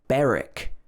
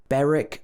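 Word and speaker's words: Berwick: should be warwick warwick also beric beric upon tweed a small place but it's got a silent w sound also in norwich we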